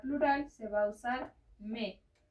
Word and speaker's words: mes: Y para plural se va a usar me. Sé que tiene una S, pero la S final no se pronuncia.